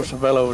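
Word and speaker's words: Civello: And I always called him Joe Savella. Uh-huh. How do you pronounce it? That's Joe Savello is the way I'd pronounce it.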